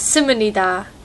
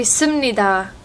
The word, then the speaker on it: 십니다: Like, she always says simunida. It should be simnida, but she can't say it.